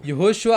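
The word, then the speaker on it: יהושע: இந்த அப்புறம் நடுவுல இருக்கிற வாவ் और बीच का जो वाव है அத ஓன் சொல்லி உச்சரிக்கிறோம். उसे ओ हम उच्चारण करते हैं। இந்த மூணி கனெக்ட் பண்ணீங்கன்னா ये तीनों को जो हम जोड़ते हैं யெகோஷுவான்னு வரும். यहोशुआ आता है।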